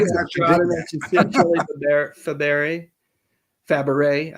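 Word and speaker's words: Fabares: mentions Shirley Fabaret. I have the hardest time saying that. I always want to pronounce the S too.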